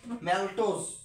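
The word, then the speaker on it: maltose: যেটা না এইটা উচ্চারণটা হইছে এইরকম মানে যদিও উচ্চারণটা হয়েছে ম্যালটোস কিন্তু ওইটাকে আর কি বাংলায় এরা কেমন যে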